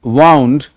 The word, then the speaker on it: wound: तो ये ध्यान में आपको रखना है कि देखो, the spelling is same, but when you are using this particular word as in second form, the pronunciation is what? That is wound, and here it is wound.